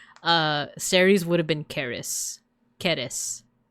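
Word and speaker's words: Ceres: And the first one we're going to go over her name is Deer Deer, but her Roman name is Series. Actually, it's pronounced Caris, but but uh in like at least in American English.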